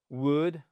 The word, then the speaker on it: would: Alors, on prononce jamais le L dans would dans would could OK et à chaque fois c'est un ou court.